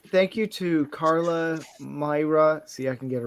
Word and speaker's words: Moira: say thank you to Carla, Myra.